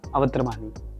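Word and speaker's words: Awatramani: वैसे तो पहले इनका रियल नेम हम आप सभी को बता दें, अगर मैं गलत प्रोनाउंस करूं तो आप बता देना. अरहान अवत्रमानी.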